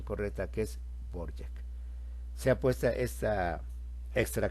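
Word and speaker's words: Dvořák: me hizo la aclaración que no se dice Dvorak, se dice Borjak. Entonces ve la diferencia entre Dvorak y su pronunciación correcta que es Borjak.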